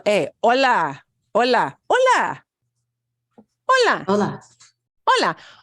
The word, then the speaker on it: hola: that in a bit H by itself is a silent letter like all the time so even though it's spelled there it is pronounced as o l a hola hola hola hola hola